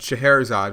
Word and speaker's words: Scheherazade: i went ahead and just double checked but scheherazade which is how you say that name which wasn't how i was trying to pronounce it before google would it is a